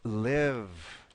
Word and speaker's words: live: at this verb here the verb to live Migel is just going to have a short I sound so it's going to